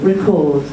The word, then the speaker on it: record: For example, to record, this is the verb, two syllables, stress on the second syllable, record. But the noun, a record, is on the first.